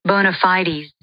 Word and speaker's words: bona fides: Did you know Merriam-Webster uses both pronunciations? It is the way Amy said it, which I'd never heard before. Bona fides. Bona fides. But I also see a lot of conversations online, people talking about how you pronounce this. And the one that I'd heard before, bona fides, bona fide, is considered non-standard.